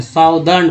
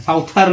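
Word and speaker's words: southern: तो ऐसे पढ़ते हैं, लेकिन जब ERN लग जाता है तो वर्ड्स बदल जाते हैं, साउदर्न पढ़ते हैं, साउथर्न नहीं, साउदर्न।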